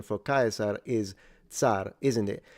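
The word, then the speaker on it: Caesar: And um like when you say kaisar instead of saying chzar um because in ecclesiastical pronunciation it's chzar.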